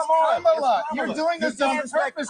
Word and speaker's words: Kamala: Let me actually pronounce her name right. Kamala Harris. If Kamala. You said it was Nancy. It's Kamala.